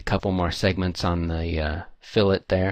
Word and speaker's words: fillet: more segments on the fill it there it's pronounced fill it not fillet just in case you're